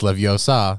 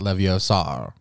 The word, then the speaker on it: Leviosa: you're saying it wrong it's Leviosa not Leviosa can't do that part